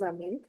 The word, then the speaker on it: amis: You never pronounce S. However, you fixed it. Okay? Ce sont des amis.